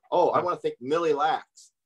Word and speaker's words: Mille Lacs: I want to thank Mille Lacs not the Malak band of the Egypt way and I just butchered